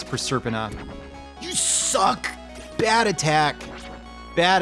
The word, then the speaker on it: Proserpina: the castle pronounce that you probably said proserpina apparently according to school moms who give a how anything is pronounced it is per serpent you suck bad attack